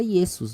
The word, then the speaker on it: Iesus: Por conta do passar do tempo, e a pronúncia latina, o I foi virando J, né, que mesmo lá no latim era Iesus, né, Iesus. Então vai mudando, né, o